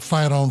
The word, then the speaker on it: phyton: natural chemical called phyton p-h-y-t-o-n pronounce like fight on fight on but but p-h-y-t-o-n and so trees and